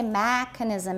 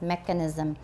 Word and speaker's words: mechanism: your brain that way so mechanism first syllable and don't say mechanism it's mechanism all right that's the